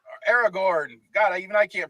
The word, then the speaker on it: Aragorn: all right the borrow blades were given to frodo mary pippin and sam by aragon aragorn gotta even i can't pronounce it in the peter jackson films but